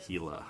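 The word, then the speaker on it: Gila: like that a lot that's spelled g i l a hila beef not for you but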